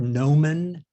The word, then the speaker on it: gnomon: wrote this poem it's the word nomen it's spelled g-n-o-m-o-n i'm sure you all